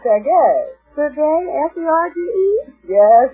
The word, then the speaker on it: Sergei: Prelude by Serge Rachmaninoff. Serge Rachmaninoff, huh? Well, that's what it says here. Oh, it's pronounced Sergei.